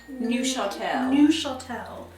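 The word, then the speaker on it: Neufchâtel: it is in fact newel new Shel so pretend to be French and get your little Accent on and throw that into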